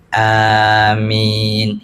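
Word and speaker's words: آمين: imam-imam kita ulama-ulama kita dalam Mazhab Syafi'i a-nya ada madnya kemudian di akhir minnya ada madnya Mad Arid sukun jadi bacanya Amin itu yang paling Afdal kalau dalam mazhab Hambali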